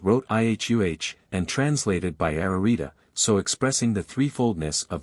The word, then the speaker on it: Ararita: one triplicate and two repeated this word is pronounced ararita the vowels in the Greek language are also